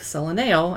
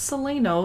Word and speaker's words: Solano: It looks to me like Solaneo, and I've always mispronounced it until I finally met the winemaker, and he said it's Solano.